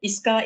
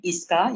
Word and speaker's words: ISCA: my iska team so I hear some of you pronounce uh iska in different ways so we are known to uh known to our shop name iska you can address us as tip iska and um I wish